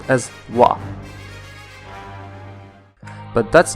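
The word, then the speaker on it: は: japan we can also see that ha is pronounced as wah but that's not the end now you're going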